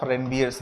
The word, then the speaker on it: Ranvier: सो myelin sheath अंदर वाली line को है, और जो इसके बीच में गैप है इसको नोड ऑफ रेनवियर्स बोलते हैं, नोड ऑफ रेनवियर्स, रेनवियर्स, तो नोड ऑफ रेनवियर।